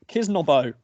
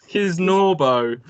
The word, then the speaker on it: Kisnorbo: Patrick Kisnobo. Oh, that's brilliant. Is that how you say it? No? Oh, Kisnobo? Kisnobo. Kisnobo? There's quite clearly an R in there. Oh. How'd you say it? Kisnobo. Kisnobo. Kisnorbo.